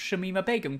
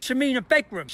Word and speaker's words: Shamima Begum: criticizing Shamima Begum particularly people who can't pronounce Shamima Begum correctly tsamina bedrooms I mean a bedroom shamina become lovely British nation we should mean a big room and who constantly seemed